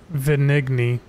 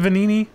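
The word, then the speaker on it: Venigni: on a workshop and venigny is it venini the g is silent the needy company I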